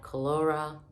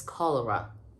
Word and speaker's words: cholera: by a very bad calora clara chlora cholera epidemic am i saying that right okay i just googled the pronunciation so it's cholera cholera so yes just